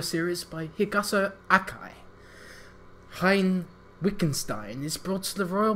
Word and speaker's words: Wittgenstein: it's like Wittgenstein. Wittgenstein. It's not Wigan because they never pronounce their E's with an E. It's always like a vowel E, or yes. and it's always an E sound.